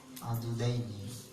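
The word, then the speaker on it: عضدين: Ila ansofil iddaini ila ansofil apa ini ya? Apa bacanya? Adudaini.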